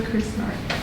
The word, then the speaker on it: Krznaric: how do I pronounce this Roman Roman Krznaric. Krznaric. From originally Australia. Australia? My mom's Australian. Yeah, you said. Yeah. Wow, okay. Roman Krznaric.